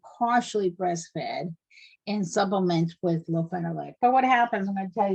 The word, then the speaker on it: lofenalac: It's called lofenalac, and that's spelled LOFENALAC.